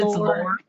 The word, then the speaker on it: Lori: It's Lore. It's Lore. It rhymes with 4, it rhymes with door.